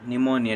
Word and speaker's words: pneumonia: Disease का नाम है पी निमोनिया, निमोनिया डिजीज़। ठीक है, पी साइलेंट।